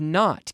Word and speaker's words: knot: KN ot but this is a silent K it's like knock knock on the door doc doc doc knock knock knock it's a silent K we don't say Kanak right we say and we say knock and then with new though we say not not okay alright now as